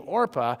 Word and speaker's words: Orpah: father of Oprah Winfrey named their daughter after this woman, but mispronounced it. And in the process of mispronouncing it, the person who filled out her birth certificate wrote it the way they heard it. And so instead of being Orpah, she became Oprah.